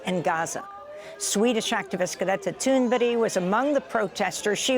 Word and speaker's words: Thunberg: Swedish activist Greta Thunberg was among the protesters.